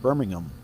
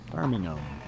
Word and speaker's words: Birmingham: I believe the Brits pronounce it Birmingham. Yes, that would be the They don't emphasize the H, right? Birmingham might Birmingham.